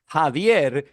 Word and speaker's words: Javier: The problem is in Spanish, Javier is how it's pronounced. And the nickname is Javi.